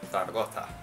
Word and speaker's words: Zaragoza: So the reason why in the French Basilan video I said Zaragoza, because I was pronouncing the Spanish pronunciation of the city of Zaragoza.